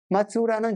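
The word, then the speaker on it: 松浦: 그다음에 쭉 와가지고 큐슈 북부 지역에 말로국이라고 되어 있는데 지금 발음으로는 마츠우라입니다. 마츠우라는 지금 소나무 송자를 쓰고 포구 포자를 씁니다.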